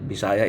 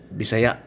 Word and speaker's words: Bisaya: and bisaya words actually ang pag-pronounce niyan sa Bisaya is not Bisaya is Bisaya yun talaga ang tamang pronunciation na kakamali ang mga Tagalog sa pag-pronounce Ah Bisaya actually it's Bisaya so unahon na to